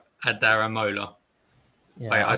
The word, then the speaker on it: Adaramola: No, it is Adamarola, isn't it? It just sounded. No, I swear. Oh yeah, no, sorry, I did say it wrong. My apologies. Adaramola.